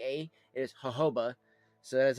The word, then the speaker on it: jojoba: that's coming in in here is the uh Hoba seed oil. Uh which most people I don't know if you ever pronounce it Jojoba because I've seen some people